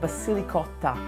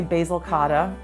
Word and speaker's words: Basilicotta: I launched my second product which is called Basilicotta. A lot of people say basilcada. It's totally okay. It's pronounced basilicott because it is um evocative of ricotta and it's loaded with basil.